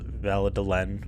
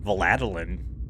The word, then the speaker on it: Vallée de l'Ain: And, like, mispronounced Vallée de l'Ain. Valadeline.